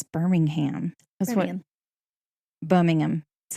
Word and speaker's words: Birmingham: and became dominated by steel production, much like Birmingham. Our fair city is known as the steel capital of the South. Mm-hmm. So, also, we were discussing Peaky Blinders earlier. Anyways, Peaky Blinders is in Birmingham, England.